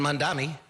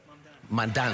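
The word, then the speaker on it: Mamdani: But vision matters and Mandami said it right. Right. Mandani.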